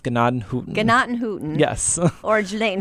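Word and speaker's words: Gnadenhütten: Hutton or hoot it's uh well it's actually pronounced gadan hooton gatan hooton yes or Jan Hutton if yes J Hutton yeah the English pronunciation is Janan Hutton the actual German pronunciation is ganad hooton and it means tents or Huts of Grace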